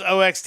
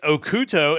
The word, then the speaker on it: OxT: touring two Japanese bands that evidently I've been mispronouncing their names are I thought it was oxt it's okuto and and myth and Roid which is pronounced